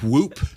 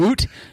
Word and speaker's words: Whoop: Whoop. Also, I would woot. No, it's whoop.